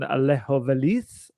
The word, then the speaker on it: Alejo Veliz: I saw the debut of a certain Alejo Veliz. Apparently, that's how you pronounce it, which is going to cause me nightmares over the seasons to come.